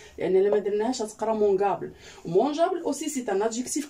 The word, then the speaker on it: mangeable: زدنا هاد e seulement la prononciation. يعني لما درناهاش غتقرا mangeable.